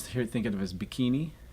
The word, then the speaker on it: Bikini: here think of as bikini marshalese pronounce it bigamy they can they relocate